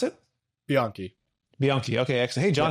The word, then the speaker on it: Bianchi: John, and I think is it Bianchi? How do you pronounce it? Bianchi.